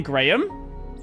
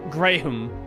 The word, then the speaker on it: Graham: The H is silent. I mean, it's not Graham. Well, actually, that's the interesting part with the name Graham.